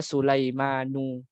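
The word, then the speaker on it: سليمانُ: Termasuk juga di sini ada Sulaimanu. Ya, bacanya adalah harokat biasa bukan tanwin.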